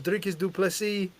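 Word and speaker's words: Dricus du Plessis: My name is Drickus Duplessis.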